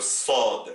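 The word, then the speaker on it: صاد: Vous avez la lettre sin, le s, qui s'oppose avec le sod, le so.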